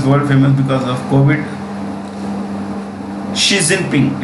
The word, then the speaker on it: Xi Jinping: Xi Jinping. It's pronounced Xi, S-G.